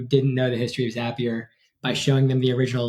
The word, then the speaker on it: Zapier: Yeah, we like to say Zapier makes you happier. That's the proper way to say it.